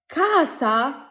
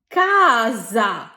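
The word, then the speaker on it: casa: Italian ভাষায় এস এর দুটো উচ্চারণ আছে।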